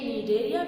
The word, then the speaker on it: Cnidaria: In Cnidaria we will have to silent the C, but in the Cetanophora we will have to focus over the C.